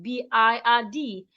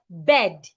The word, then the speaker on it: bird: will pronounce this word B I R D as bed. No, do not make that mistake. Henceforth because of the R beside the I, the sound becomes longer.